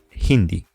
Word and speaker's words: hindi: Hindi in this case although the H is in Spanish completely silent here we have an exception and it is pronounced Hindi Arabi Japanese how do